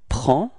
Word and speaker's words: prend: Il and elle, so masculine, il, we get il prend. Okay, so same pronunciation, final D is not pronounced, so it's only the P-R-E-N, prend.